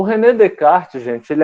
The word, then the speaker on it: Descartes: Como ele é francês, você não pronuncia os S's, ó. Nem esse S e nem esse S aqui. O René Descartes. O René Descartes, gente, ele é muito conhecido também na matemática.